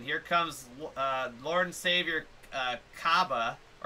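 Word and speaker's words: Cabba: comes Lord and Savior Kaba, or as he's now pronounced after the old epic yell from Champa, Kabe!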